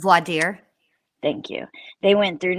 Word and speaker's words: voir dire: Lori Vallow Daybell tells the judge that in Idaho's group how do you say that? Vordaer? I can't say it. Voir dire.